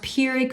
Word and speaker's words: Pyrrhic: Some people say it Pyrrhic. I think it's pronounced Pyrrhic victory.